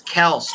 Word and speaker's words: Kelce: and he goes, "Oh, by the way, it's Kels, but everybody's been saying Kelsey that me and my brother don't say a word. It's just whatever." Make your money and shut up. Who cares? It's spelled Kelce. It's Kels. Well, you can call me whatever you want.